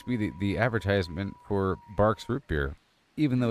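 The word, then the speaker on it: Barq's: Even though it's spelled B-A-R-Q.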